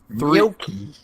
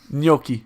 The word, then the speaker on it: gnocchi: and we went to Gnocchi. gnocchi. Say that again, Kyle. It's like an N. Is it? It's like an NG sound.